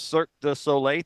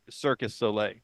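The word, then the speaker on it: Cirque du Soleil: to one of those cir the solay things I have to say it like that because I used to say circus solay right which was never right and so you'll be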